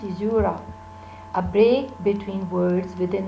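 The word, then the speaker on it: caesura: son the opening word and sizura this is pronounced izura a break between words within the metrical foot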